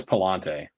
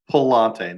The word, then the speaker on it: Pallante: pronunciation of his name i'm pretty sure it's palante palante not ionte yeah i'm like 80